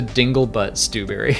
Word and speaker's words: Dinglebat Stewbury: I think the way I said it is Dinglebutt Stewbury. Dinglebutt or Dinglebat? They nicely spelled it out phonetically to Dinglebutt Stewbury.